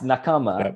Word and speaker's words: Nakama: know how do you say chris is it nakama nakama and that i presume there's like 15 different ways within your own meetings that this yeah yeah it's nakama and it uh it actually it's a japanese